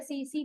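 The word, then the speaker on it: tsetse: एक मक्खी से, जिसे बोलते हैं सीसी फ्लाई। इसमें टी साइलेंट है, तो SETSE, सीसी, दोनों तरफ टी साइलेंट है।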